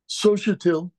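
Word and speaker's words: Xóchitl: notes I'm joking here sotil is spelled x o c h i t i l it's a indigenous Indian name and indeed Sohail comes from an IND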